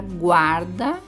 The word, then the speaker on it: guarda: Já a palavra guarda, eu pronuncio o U.